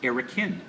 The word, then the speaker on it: Erokan: And his brother decided to be man of the arts, which amazingly enough is pronounced Erokan.